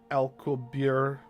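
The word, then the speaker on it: Alcubierre: In putting it in simple terms, he observes, quote, originally proposed by Miguel Alabir in 1994. This last name is spelled A L C U B I E R R E.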